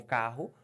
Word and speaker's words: carro: o som dele e o RR são dois sonhos não você fala como k- sai pela garganta mas é um som só duas letras que representam